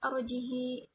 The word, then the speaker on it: أرجه: fa'alqih di surah An-Naml, membacanya dengan mengkasrahkan huruf ha serta menyambungnya dengan ya lafziyah pada 3 tempat tersebut. Arjih menjadi arjihi, fa'alqih menjadi fa'alqihi.